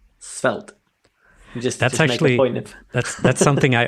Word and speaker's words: Svelte: I mean, that was the perfect pronunciation there. So just maybe like when you talk about it, just stop and say Svelte.